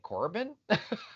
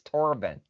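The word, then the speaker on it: Torbin: But every time they say his name, I think Corbin. It's Torben.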